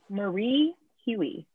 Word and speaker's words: Marie Hui: last name correct get it right people it's marie huey yes there you go there you got it